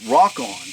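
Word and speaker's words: Rokon: about that Ron yeah I think the correct pronunciation of that is rockon did you know that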